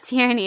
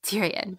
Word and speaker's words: Tierney: Tierney. In my head was like Tyrion. Tyrion. That's not it. Stop, Peg. That's not correct.